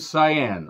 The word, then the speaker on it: Sayen: it wait for it a character named cyan I had to make sure that I got that pronunciation correctly not saying you know what I'm saying no chilean's saying here nobody going Super Saiyan just using Ingenuity and